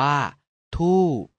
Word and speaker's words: ธูป: รูป วรรณยุกต์ คำ ว่า ธูป เป็น อักษร ต่ำ ผัน ด้วย วรรณยุกต์ เอก ดัง นั้น จะ ออก เสียง โท คำ ว่า ทุ เป็น